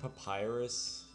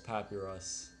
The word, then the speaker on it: Papyrus: the pronunciation now so it's like Papyrus I think is actually how it's pronounced I don't care it's papirus because that's just the cuter name all right so I